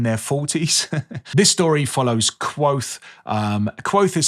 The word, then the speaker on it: Kvothe: This story follows Quoth. Quoth is spelt Kvothe, I think.